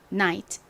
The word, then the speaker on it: night: 트 소리 나는가 옵니다 다시 한번 말씀드리지만 gh 아 앞에 아가 오거나 뒤에가 오는 경우는 묵음으로 소리가 나지 않습니다 자 발음해 볼까요 night night 오케이 이제 같이